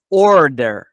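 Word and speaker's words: order: آمادهای که سفارش بدی اینجا یه تریک تلفظی داریم که ایرانیا اشتباه تلفظ میکنن اینجا ر اینجا اگه میخوای آ رو تلفظ کنی درست زبونت نزدیک سقف دهان باید باشه یه لحظه اوردر اوردر ببین شکلش این شکلیه امیدوارم که اینجا رو ببین اوردر زبونت نزدیک به سقف ها میشه ببین اگه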